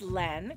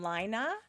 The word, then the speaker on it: Lina: I know a lot of people think it's Len because it looks like the French way you say wool. Okay. But I've looked into it more than once, and Lina is Finnish for wave.